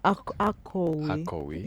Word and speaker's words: Akowe: Is the founder of Akowe. Did I pronounce it well? Absolutely. How was it? Akowe.